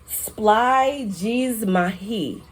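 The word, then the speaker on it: σπλαγχνίζομαι: The Greek word that I found for compassion is pronounced splygizmahi.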